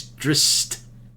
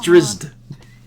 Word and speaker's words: Drizzt: No, we just have to pronounce his name correctly. He's Drist. And this is Aw. Drizzt.